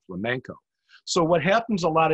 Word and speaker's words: flamenco: word uh and and saying it wrong like dance the flamingo instead of dance the flamenco so what happens a